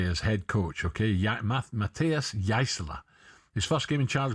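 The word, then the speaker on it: Jaissle: This is is it Yasela? You what? Yaisla. I've heard so many different pronunciations.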